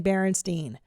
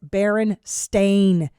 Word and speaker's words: Berenstain: way my whole life i've been saying berenstein and it's barren stain bears you got a little